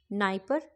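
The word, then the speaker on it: Dnieper: होता है Danube don नाइप नाइप है पर आगे डी लगा हुआ है निस्टर है पर आगे डी लगा हुआ है ठीक है मतलब डी साइलेंट है तो डेन्यूब डॉन नाइप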